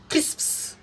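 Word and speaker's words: crisps: अंतर क्या है कि PS जो है शब्द के अंत में आया है, तो इसका प्रोनाउंसिएशन P होगा, अर्थात इसे हम पढ़ेंगे क्रिस्प्स, क्रिस्प्स, क्रिस्प्स, स्प्स।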